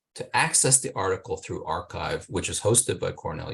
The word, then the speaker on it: arXiv: the um the repository called archive is spelled arxiv uh archive which is hosted by